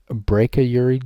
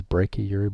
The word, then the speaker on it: brachyury: But Langman, the chiropractic board, still call it the brachyury gene. I call it brachy. That's how I learned is brachyury, but it really should be pronounced brack, like back.